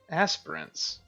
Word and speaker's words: aspirants: could ignite the world aspirants so that's how that's pronounced I've always thought it was a SP per chance it be